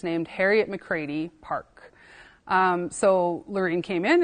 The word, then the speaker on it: McCready: The Métis names can get a little tricky with pronunciation, but it is an Irish last name, so McCready.